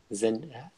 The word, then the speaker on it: Zendaya: Zendaya.